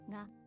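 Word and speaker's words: が: It's pronounced as a hard, not to be pronounce it as a J. Go through our 5 new characters. Add Dakuten. Ga.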